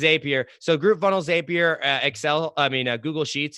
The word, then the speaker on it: Zapier: with connected with I don't know if you pronounce it zapier is AP right yeah yeah yeah is a peer so group funnels zapier excel I mean Google sheets is like kind